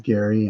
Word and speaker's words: Gary: So, some people see my name the way it's spelled spelled a little differently. So, of course, I get I get a lot, but it is Gary and and and both work just as well.